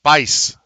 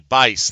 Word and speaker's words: Bice: Oh, they did tell me how to pronounce it. Bice. Patrick Bice. There's a guy on the radio local, Paul Geis, but this is with the B, Bice.